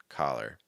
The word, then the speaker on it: collar: so caller or collar but that second word again like your shirt is typically always pronounced with an a sound collar okay so that's some good